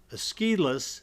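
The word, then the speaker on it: Aeschylus: of the father of the Greek tragedy and esus is the way that it's pronounced often considered the father of the Greek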